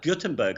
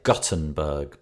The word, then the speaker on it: Gutenberg: The way it's pronounced is interesting, because I say Gutenberg because I live in the north of England, and G-U-T is gut. Yes. Whereas everybody else seems to say Gut with a G-O-O-T, Gutenberg.